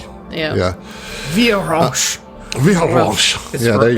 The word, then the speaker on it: Vheiransch: the name of Commandant Vera Ranch. I'm pretty sure I'm How do saying you spell that. that? VHEIRANSCH. Whoa, what? That was random letter. VHEIR. ANSCH. Sure, Yep. there's that extra R in That's there.